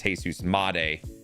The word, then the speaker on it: Jesus Montero: I I I I can't stand the fact of how we were pronouncing it on the stream. It's Jesus Montero.